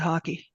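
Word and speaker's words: hake: It's I pronounced a hate brush, but I guess you're supposed to pronounce it hockey.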